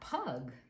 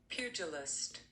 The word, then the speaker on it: pugilist: And I wasn't sure how to pronounce that because I said pug, but it's really not pug. It is pugilist.